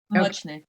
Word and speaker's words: Muchnik: Muchnik. Am I saying it right? Muchnik, yeah.